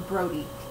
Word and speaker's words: Brodi: know, and it's called Everneath, and it's by Brodi Ashton. Is that how you say it? No, Brodi.